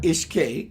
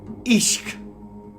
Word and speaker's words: Ishq: And it's not Ishk. When I first thought it was Ishq, and it's pronounced Ishq.